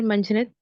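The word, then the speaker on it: منجهند: सर मंझंद। मंझंद, दोनों जो है नून गुना है।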